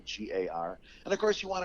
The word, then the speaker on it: Guigar: TikTok, you can put in my name, Guigar, as one word, and the last name is spelled just like guitar, but with a G for a T, so Guigar.